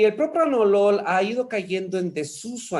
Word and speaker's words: propranolol: una r y aquí la otra es propranolol no es propranolol como muchos dicen es propranolol este propranolol obviamente era